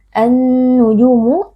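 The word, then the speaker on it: النجوم: alif lam asyamsiyah karena ada alif lam bertemu dengan salah satu huruf Syamsiyah yaitu huruf nun cara membacanya Alif lamnya kita masukkan atau kita idghamkan ke dalam Nun dan karena Nun ini menjadi bertasydid annujumu maka berlaku hukum ghunah jadi wajib kita baca dengan dengung yang dipanjangkani karena ada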